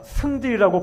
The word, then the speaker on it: 성질: 이런 모세의 성질은, 이거는 성질보다 승질이라고 발음하는 게 좋은데요.